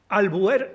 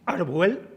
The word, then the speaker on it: Albuer: Albuer sí, Arbuel no.